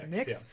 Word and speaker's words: NYX: another uh vr cyberpunk how do you say this nick's it's nyx it's a vr mmorpg